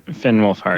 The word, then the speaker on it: Finn Wolfhard: on and when, sorry, I always mispronounced his name. Is it Flynn? Finn Wolfhart? Finn Finn Wolfhard.